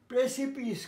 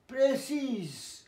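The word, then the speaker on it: précis: প্রেশাস মূল্যবান মূল্য, প্রেসিপিস খাড়া, প্রেসিস প্রেসি এসটা উচ্চারণ না প্রেসি বলে, মানে সংক্ষিপ্ত।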